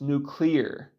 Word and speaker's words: nuclear: And by the way, it's clearly pronounced nuclear, not nuclear.